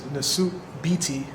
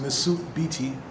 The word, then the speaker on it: Nesut Biti: Okay, so this is the name that I go by, which is Nesut Biti. That's the way it's pronounced, Nesut Biti.